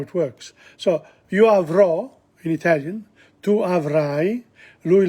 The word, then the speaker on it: avrò: So, io avrò, in Italian, tu avrai, lui, lei avrà. Notice the accent on the O and the I again.